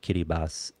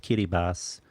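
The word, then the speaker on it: Kiribati: very weird spelling um it doesn't look like kitty boss it's pronounced Kitty Bas but it's spelled Kitty bti and I don't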